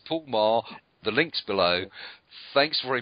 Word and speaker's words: Paul Meagher: Anyway, it's Paul Meagher.